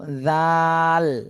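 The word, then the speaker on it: ذال: এইটা এইটা বলেন হ্যাঁ জা জা না তো জাল লাস্টে ল হবে ল জাল জাল আবার বলেন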